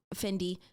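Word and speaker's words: Fendi: brand it's an easy that's not how you pronounce it it's not a t but sure oh that's fendy I meant Fenty Beauty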